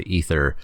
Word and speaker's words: Aether: stupid reason but yes despite what the word looks like they are saying it is pronounced ether yay ether meltdown one